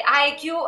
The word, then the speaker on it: Haikyuu: Per chi non lo sapesse, IQ è, anzi IQ dovrebbe essere la pronuncia giapponese, è un cartone giapponese,